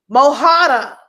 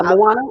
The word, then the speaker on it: Moana: Mohana. Thank you. Oh, Moana. Am I saying it right? Moana. Yeah, Moana. Mm-hmm.